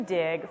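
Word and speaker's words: Digg: So Dig, which is spelled D-I-G-G, just so that it's extra cool, I think it's mostly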